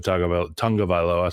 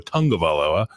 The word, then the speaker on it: Tagovailoa: he thinks that Tua Tagovailoa. Sorry, I've been saying that wrong for like 8 years. I didn't know that there's an N in there, but I looked up the pronunciation. Tua Tagovailoa.